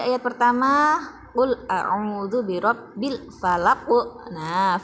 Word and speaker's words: falaq: Pada ayat pertama, qul a'udzu birabbil falaq. Nah, falaq qaf ini termasuk huruf qalqalah. Jadi kalau waqaf atau kalau berhenti harus mantul.